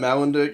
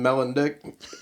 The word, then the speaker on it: Malendick: And then he kept, instead of Malendick, he kept saying Melendick. But it was just like a thing where he couldn't pronounce it.